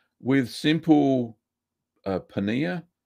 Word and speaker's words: paneer: says with simple uh paneer a penny is spelled p e e no p a n e e r paneer yeah it's indian cottage